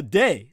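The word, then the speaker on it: Dey: independence when in 1785 the day that spelled d-e-y the day of algiers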